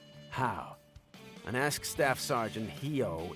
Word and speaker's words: Heo: It's pronounced Hao.